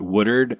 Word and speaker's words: Woodward: a TV station in, I'm going to use the local pronunciation of it. It's not really the pronunciation of it, but Woodard, Oklahoma. Woodard, Oklahoma. Yeah, we call it Woodward. Anyone that reads, I guess. Yeah. But otherwise, for the locals, it's Woodard, and it was a